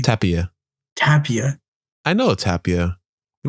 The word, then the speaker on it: Tapia: Tapia.